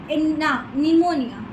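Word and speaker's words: pneumonia: अब निमोनिया की स्पेलिंग होती है पी से, बट हम लोग उससे बोलते हैं निमोनिया।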